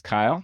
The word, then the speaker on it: Kiel: My name is Kyle. It rhymes with mile.